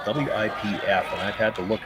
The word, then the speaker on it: Wipf: last name is spelled W-I-P-F, and I've had to look up pronunciations. I believe it's Wipf, but it sounds awfully close to Whiff, and I hate calling a skip Whiff.